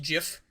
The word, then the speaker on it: GIF: know when when like the creator of gifts said that they're pronounced Jiff it's like no dude